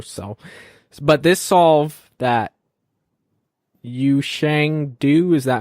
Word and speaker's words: Yushang Du: from sub 4 so but this solve that you Shang do is that how you pronounce his name yeah you Shang do he had a double X cross and then